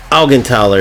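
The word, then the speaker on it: Augenthaler: And then I have Marinos as a substitute for Algentaler is how you pronounce it.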